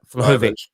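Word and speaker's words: Vlahović: a possibility of both martinez and um uh flokovic yeah that's how you pronounce it if harry kane stays maybe one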